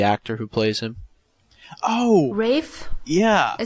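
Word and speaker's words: Ralph: no just out of curiosity how do you pronounce Voldemort's name the actor who plays him Oh Rafe yeah I said raise fine she I thought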